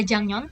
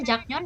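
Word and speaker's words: 작년: lalu banggem barusan tahun ada jangnyon tulisannya jaknyon dibacanya jangnyon minggu lalu jinanju bulan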